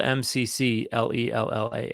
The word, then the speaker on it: McClellan: consonants in a row so I started spelling my last name m-a-k-l-e-l-a-n so I'd say now can you say that and they say McClellan and I'd say perfect